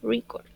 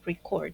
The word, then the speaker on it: record: en la primera sílaba record Okay pero si es un verbo la acentuación debe ir en la segunda sílaba record entonces vemos cuán importante